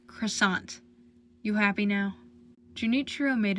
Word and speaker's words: croissant: pastries for Romo would know that the tea is silent are you implying I